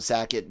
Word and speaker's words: Saget: But for those that may not have heard, comedian Bob Saget did die over Saget. Sorry if I mispronounced. You did. Put too much of a C in there.